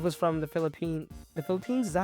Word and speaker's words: Philippines: Japan Diana herself was from the Philippine the phili phines is that how you say it yeah the Philippines I was in Texas at the time and